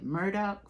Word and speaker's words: Murdaugh: been keeping up with that the murder family Murdoch family even though it's spelled murdered off Murdoch y'all be keeping up